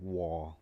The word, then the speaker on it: war: คือ สงคราม นะ ครับ มัน ไม่ ได้ อ่าน ว่า วา นะ ครับ วอ วอ ที่ ที่ แปล